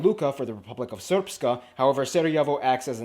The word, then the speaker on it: Srpska: I know, it looks like it's pronounced Srpska. It's pronounced Srpska. Wait. Hey, they're just missing like the E, bro.